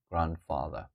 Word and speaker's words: grandfather: they go right here D is silent again father grandfather Yeah grandmother we can